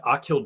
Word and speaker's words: Aquil: by mad squabbles and Akil dansler is what stanzo go by forget something not I'll kill Dantzler but his name is spelled aquil it looks like a